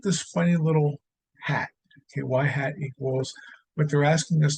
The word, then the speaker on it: y-hat: to know what the y-hat value is okay so this guy is pronounced y hat okay and then the